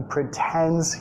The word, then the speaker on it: pretends: He pretends he can't hear her. He pretends he can't hear her. He pretends. Acentuación de la palabra. Primera sílaba reducida. Pretends. Segunda más fuerte, más larga el sonido vocálico.